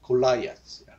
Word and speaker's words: Goliath: 우리 성경에 골리앗이라고 되어 있는데 영어식 발음은 골라이앗 이렇게 돼요.